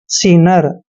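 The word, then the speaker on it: sinner: उच्चारण स करते हैं आई को ई की मात्रा पढ़ते हैं डबल एन का उच्चारण न करना है ई आर को र पढ़ते हैं सीनर सीनर होता है दोस्तों पापी सीनर पापी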